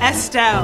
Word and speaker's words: Estelle: Rhymes with Adele. Galel. Wait, Adele? Anel. Estelle.